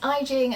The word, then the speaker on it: Aijing: everyone, my name is Aijing and that is pronounced like Beijing with an I, and today I want to quickly just go through some of my recent purchases.